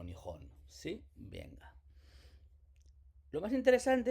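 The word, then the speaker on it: 日本: día, del sol, Ben, que Riben es el país del origen del sol en chino, que en japonés pronunciamos como Nihon.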